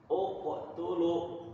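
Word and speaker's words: اقتلوا: ketiga tiga kita lihat ketika di huruf ketiga berharakat damah maka huruf pertama dibaca Dom domah begitu uqtulu dibacanya kalau huruf ketiganya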